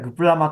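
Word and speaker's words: GPRMA: モダナイゼーションアクト GPR MA アメリカたらグプラマって読むんですけども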